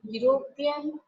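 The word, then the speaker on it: European: अ यूरोपियन, यूरोपियन, देखो starting की spelling हो रही है ई से, है ना, लेकिन अब जब हम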